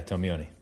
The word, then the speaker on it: Tomeoni: And let me get the pronunciation of your last name. It's Tomeoni? Very close, yeah, Tomeoni.